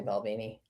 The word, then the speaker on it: Balvenie: It's probably not that at all, but I just wanted to say Balvenie. It is a fun word to say. And you even pronounced it correctly.